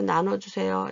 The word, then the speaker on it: 나누어: 발음은 이렇게 많이들 하실 수 있어요. 애들도 그렇고 아이들도 그렇고 어르신들도 이거 나눠주세요. 이걸 좀 나눠주 이렇게 할 수 있는데 그게 아니라 나누어니까 나눠주세요. 이렇게 되는 거죠.